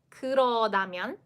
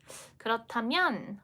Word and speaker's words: 그렇다면: will be coming up, and how do you pronounce it? Number 1, 그러다면. Number 2, 그렇다면. 그러다면, 그렇다면. 그러다면, something something, or 그렇다면. 그렇다면.